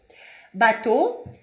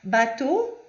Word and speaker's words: bateau: Quando houver o A e o U, ou E, A e U, a pronúncia é sempre de O. O, nossa letra O, normal, sem biquinho, O. Bateau, O, aussi. O A e o U sempre vai ter o som de O, independente da onde, do posicionamento na palavra, da sílaba.